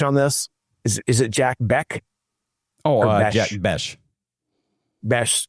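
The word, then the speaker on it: Jack Bech: Do you pronounce the H on this? Is is it Jack Beck? Oh, Jack Bes. Bes. Jack Besh.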